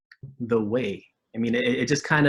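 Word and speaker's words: Wé: The Way, I'm correct. It's not spelled W-A-Y, correct? No, it is not. It is spelled W-E with an accent to make it sound like an A-Y.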